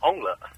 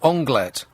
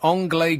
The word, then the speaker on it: onglet: If it was a French restaurant, I would probably say anglais. Yeah, so I said anglais grillé, which is completely wrong.